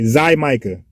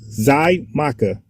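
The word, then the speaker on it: Xaymaca: Let's get a good pronunciation. 1 second. Okay, Zymica. I had to get it right. Zymica, right? Zymica.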